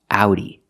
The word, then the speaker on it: Audi: This is not an English word, so we pronounce it differently. We pronounce the AU like ow, like in words out, now, and how. Again, the sound is ow, so this word is pronounced Audi.